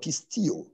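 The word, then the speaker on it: πιστεύω: word belief was translated from the greek word pistio and for those making notes is spelled as p i s t e u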